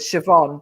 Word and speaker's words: Siobhan: that um foreign just like Siobhan you pronounce it Siobhan the b h becomes the Irish language um do you